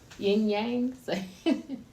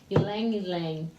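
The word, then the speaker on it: ylang-ylang: So we have rose, lemon, jasmine, lavender, my favorite, peppermint, and how do you say that, my yin yang? Good question. Ylang ylang. Ylang ylang. It's spelled Y-L-A-N-G.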